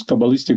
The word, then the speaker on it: Kabbalistic: little bit the 10 dimensions of Is it coalistic? Is that how you say it? Yes, coalistic biology.